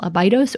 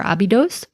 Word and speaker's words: Abydos: So for example, the ancient name for the place that we now call Abydos or Abydos, Abju, has this sign at the end of it.